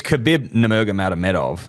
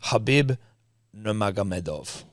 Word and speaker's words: Khabib Nurmagomedov: It's Khabib Nurmagomedov. Perfect, mate.